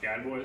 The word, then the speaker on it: Gadbois: Officer Josh Gadboys. How do you spell that?